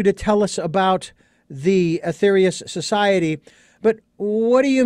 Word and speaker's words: Aetherius: was so intrigued by the aetherius if i'm pronouncing that correctly the aetherius society that's correct and the slogan first of